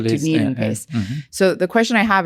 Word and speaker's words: DunedinPACE: I think it's called DunedinPACE. DunedinPACE. That's right. DunedinPACE.